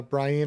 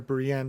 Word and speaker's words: Brienne: and then as uh Brien or Brienne depending on how you want to pronounce it and padrick talk